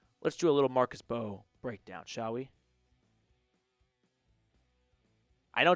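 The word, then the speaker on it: Mbow: Let's do a little Marcus Bow breakdown, shall we? I know it's pronounced Bo, so All right.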